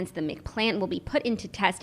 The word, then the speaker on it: McPlant: Yeah, but I think you should say it like that, McPlant. If you extend the A, it rolls off the tongue.